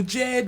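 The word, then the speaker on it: Djed: The Jed, which is spelled D-J-E-D, invites us to stand tall, rooted and unshaken.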